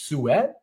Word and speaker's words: suet: actual fat used is this suet I believe that's how you pronounce it s t suet and that just means